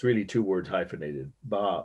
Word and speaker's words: bas: It's really two words hyphenated, bas or bas, some people call it mispronounced, but it's a French word, B-A-S.